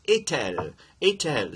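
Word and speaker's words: est-il: to separate those and you already have that t in EST that comes back and you do pronounce it in this case so it's itel so you get Canadian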